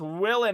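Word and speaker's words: Whelan: I believe that is Willen is how you say it.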